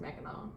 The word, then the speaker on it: Mackinac: she pronounced it smacking egg everyone we have Mackinac Island and Mackinaw City Mackinac Bridge it's it's spelled mechanic but we pronounce it Mackinac pronounce macaron it's spelled mechanic but it's pronounced Mackinac I like if you were to tell me